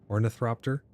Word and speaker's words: ornithopter: Orth or thropter. Ornithopter. That's how you pronounce it. Ornithopter. ornithopter. Oh, there's no R.